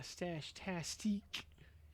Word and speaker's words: Stash Tastique: Yeah, Stash Tastique, should say. Gotta pronounce that E at the end there.